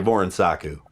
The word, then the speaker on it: Vuorensaku: He says just say it like an American. Sounds good to me, dude. It sounds good to me. Just say it like an American. Just say Voronsaku.